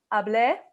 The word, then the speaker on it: hablé: So it's yo hablé, and note that there's an accent on the E. It's hablé versus hable.